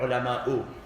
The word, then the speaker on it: الْعُلَمَاءُ: We don't say ulama'a or ulama'u unless we are connecting it with the verse which comes after.